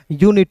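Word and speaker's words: unit: फिर देखिए यू शुरुआत में है तो यू का उच्चारण यू के रूप में करेंगे। एन आई नी टी का ट यूनिट। क्या पढ़ेंगे? यूनिट पढ़ेंगे।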